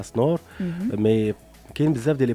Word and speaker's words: Snor: Tu peux d'abord YouTube de Snor, S-N-O-R, voilà comme ça se prononce.